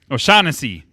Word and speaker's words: O'Shaughnessy: James O'Shaughnessy. O'Shaughnessy. Yes. Shaughnessy, yes. It's a good save. Oh, man. Now say it in save. an Irish accent. Huh? Say it in an Irish accent. O'Shaughnessy.